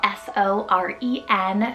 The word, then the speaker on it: Soren: I have Soren, spelled S-O-R-E-N, Soren.